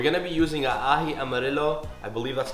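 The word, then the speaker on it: ají amarillo: with flavor we're going to be using a ahi amarillo i believe that's how you pronounce it yellow chili paste it's absolutely delicious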